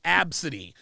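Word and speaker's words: Abcde: Yeah, I used to see, I saw a name that was spelled L-A, pronounced Ladasha. There was a name I saw. The girl's name was Absidy.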